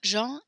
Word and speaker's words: Jean: So we actually pronounce Jean, the John as Jean. Jean.